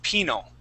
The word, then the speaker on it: penal: is g now uh the way that we pronounce that first word is penal penal colony yeah penal colony okay now everybody that word penal uh comes from the the the word uh penalty okay just just like